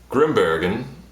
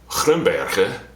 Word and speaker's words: Grimbergen: So anyway, I'm drinking a Grimbergen, that's the English pronunciation, Grimbergen for the Nederlands pronunciation, and Grimbergen for the Vlaams pronunciation.